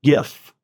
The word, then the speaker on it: GIF: There's no T at the end. GIF. Yes. I like communicating in gifts. I know you guys know that. Pronounce the word give. Give. Pronounce the word just. Just. Now say G I F.